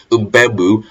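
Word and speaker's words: Mbeumo: I got his pronunciation wrong, but when I heard the commentators say Mbemu, I was like, okay, that's what I remember, for next time.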